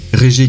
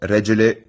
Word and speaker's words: Regele: Regé qui signifie roi, et Gorilla, désolé pour la prononciation, qui signifie gorille. Mais la vraie prononciation, c'est Regele Gorilla.